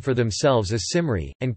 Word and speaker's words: Cymry: walnut the modern Welsh name for themselves as Simar II and comer II is the Welsh name for